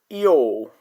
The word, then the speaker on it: yo: Yo. Yo. Yo. It is pronounced as yo. Yo. Just like when we say I'm Sin.